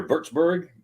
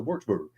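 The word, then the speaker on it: Würzburg: this book uh they're Germans pronounce their W's as V's so okay so that's when you hear birchburg and then I know I said wartsburg well yeah that's American way works very good we look at it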